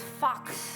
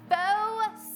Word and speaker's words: faux: He's like, well, it's fox suede. And I was like, fox suede? He's like, no, fox. It's like by the U. It's like a really. French pronunciation. And I was like, Austin, faux suede.